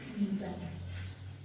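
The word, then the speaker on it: Gnetum: And for this Nitopsida, example is the Niton. You can see here the G is silent.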